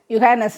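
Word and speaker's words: Johannes: DRAM மற்றும் train வசதிகளால் டூயிஸ்பெர்கில் இருந்து சுமார் 131 கிலோமீட்ட தூரத்தில் உள்ள வேல் வேர்ல் என்ற நகரில் மகனின் நண்பர் யுகானஸ் ஜெர்மனியில் ஜே எல்லாம்ஏ என்று உச்சரிக்கப்படுகிறது ஜொகானஸ் யுகானஸ் சொல்லுவாங்க என்பவர் வீட்டிற்கு சென்றோம் எளிதாக சென்றோம்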